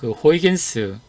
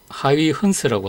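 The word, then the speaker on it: Huygens: 다음에 여기에 보면 이제 호이겐스, 우리가 발음할 때 호이겐스라고 하는데 원래 발음은 이제 하위 헌스라고 합니다.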